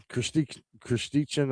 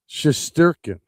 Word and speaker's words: Shesterkin: Uh, you know, the goaltender tonight for was Kristichin. I want to say his name right, which is the guy that was in net for the Rangers. Where is he at? Rangers. Yeah, Shesterkin.